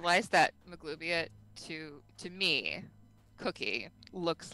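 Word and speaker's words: Maglubiyet: How do you pronounce it again? Maglubiet.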